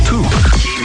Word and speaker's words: toque: What's a toque? I don't know, but it rhymes with kook.